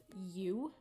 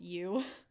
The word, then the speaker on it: Uoo: and I call it you, but it's spelled like UOO, like almost like goo, but it's you.